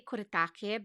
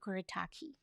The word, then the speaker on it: Kuretake: by kuritaki um so i would say koretake because uh i'm filipino and we really pronounce our vowels like that uh japanese maybe also but here in america of course i think everybody would say koretaki um these are the